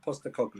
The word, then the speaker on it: Postecoglou: Postecoglou. Yeah, that's how you say his name.